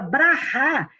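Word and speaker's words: ברכה: É É Baracá, porque mas Baracá. porque o inglês, quando coloca esse som do Rá no final, ele coloca um K com um H, que aí ele fala Baraque, mas a pronúncia correta de Israel é Rá, entendeu?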